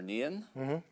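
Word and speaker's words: Nian: read about was um about the the monster neon does that pronounce that correctly yeah that's correct okay so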